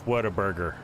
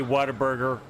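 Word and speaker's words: Whataburger: what a burger yeah we tend to say waterburger waterb in the south waterburger cuz we get lazy in how we pronounce things exactly yeah it probably sounded exactly like waterburger but it's what a burger and probably my favorite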